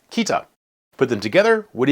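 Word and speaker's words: 北: For example, you can learn that this character, meaning south, is pronounced minami, and this character, meaning north, is pronounced kita.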